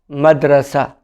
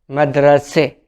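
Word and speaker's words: مدرسة: In Arabic, school means madrasa. Madrasa. This is in standard Arabic. In spoken Arabic, it will be madrase.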